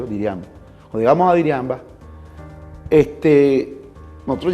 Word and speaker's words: Diriamba: Diriamba, que se llama, se pronuncia Diriamba.